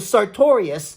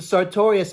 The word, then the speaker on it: sartorius: We used to say it like that with the sartorius muscle and grab the muscle and go, sartorius. Crazy things like that as